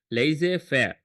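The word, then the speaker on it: laissez-faire: Okay this is how you pronounce it. Laser fair.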